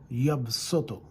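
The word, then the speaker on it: يَبْسُطُ: Yaqbidu, Allah subhanahu wa ta'ala, whoever He withhold, and yabsutu. It is written with the swad, but it's pronounced with the sin.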